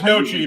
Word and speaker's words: gnocchi: Well, I know it's gnocchi, but I'm like, there's a G in there. Oh God, yeah, it's Gnocchi. Gnocchi. The G is silent.